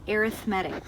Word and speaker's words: arithmetic: an arithmetic sequence now I know it looks like arithmetic and I believe it's spelled the same but it's called arithmetic when we're looking at